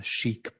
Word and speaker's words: CHIC: have nicknamed these architectures chic puffs. Of course, that's supposed to be pronounced like the French word chic because we sort of like these architectures so much.